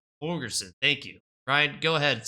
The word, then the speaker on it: Holgorsen: Dana Holgerson. Holgerson. Thank you, Ryan. Go ahead. Since you know how to pronounce his name, I'll let you start it off.